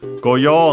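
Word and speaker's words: 御用: Go with those of Chinese origin, like our yo here, yo u, so actually long yo, the long vowel.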